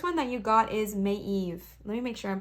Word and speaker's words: Maeve: Pronounced Maeve. See, I wasn't pronouncing it right. Maeve.